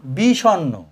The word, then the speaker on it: বিষণ্ণ: কি উচ্চারণ? বি, এই হচ্ছে বি। স, এই হচ্ছে স। এইখানে যোগ আসবে অ, স। তারপরে মূর্ধন্যয় দন্তন্য, এই হচ্ছে মূর্ধন্য, এই হচ্ছে দন্তন্য। উচ্চারণ কি আছে? বিষণ্ণ। অতএব পরে একটা অ আছে, এই হচ্ছে অ, এই হচ্ছে এই, এই হচ্ছে বি, এই হচ্ছে স, এই হচ্ছে ন, বিষণ্ণ।